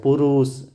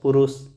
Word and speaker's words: पुरुष: पुरुष तो ज़्यादा नहीं खिंचाएगा, पुरुष।